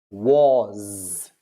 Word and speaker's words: was: Now we have war, was. It's not was. It's almost a Z sound.